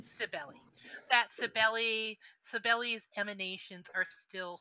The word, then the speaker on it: Cybele: Pronunciation is Cybele. Cybele.